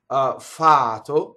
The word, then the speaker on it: fato: Fato, single T.